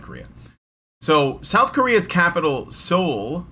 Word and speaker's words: Seoul: So South Korea's capital, Seoul, I think that's how you say it, Seoul, Seoul, yes, is removing women's only parking spaces 14 years after they were introduced.